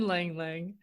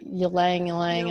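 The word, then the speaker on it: ylang-ylang: is silent okay and langlang and how is that spelled it has a y at the beginning that is silent yeah so it looks like ylang ylang and i think some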